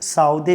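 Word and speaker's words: Southey: Coleridge, Samuel Taylor Coleridge और Robert सदे दोस्तों। अर्थात इसे साउदे भी प्रोनाउंसिएट करेंगे, तो रॉबर्ट सदे या साउदे।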